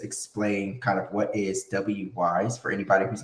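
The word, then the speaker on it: Wwise: had so far in the prototype so it's pronounced wise and it's it's an audio middleware okay everyone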